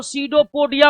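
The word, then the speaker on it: pseudopodia: यहां 'p' अक्षर मौन रहता है। इसका उच्चारण स्यूडोपोडिया होता है।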